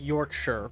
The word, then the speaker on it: Yorkshire: Yorkshshire is pronounced Yorkshire, for example.